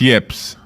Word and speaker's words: yips: It's yips. Yip, yip, yip, yip, yip. Y-E. How do you spell it?